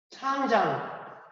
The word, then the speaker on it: 창장: 예, 요것이 창장, 우리 발음으로는 장강.